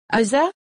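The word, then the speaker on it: هذا: démonstratif dans la grammaire le mot se prononce comme hasa mais il est écrit sans le premier Alif le deuxème mot est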